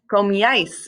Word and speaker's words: comíais: And then comíais. So you have the accent on the I still, that first I, and then you add AIS.